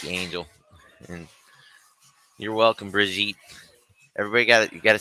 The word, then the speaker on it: Brigitte: Thank you, Angel, and you're welcome, Brigitte. Everybody you got to say her name correctly. It's Brigitte. It's not Brigitte. It's Brigitte. She got the extra I in there.